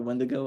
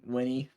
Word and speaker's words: Winnie: And then my absolute fave, when I'm gonna call her Wendigo, I'm saying it wrong, but Winnie, there we go, Winnie.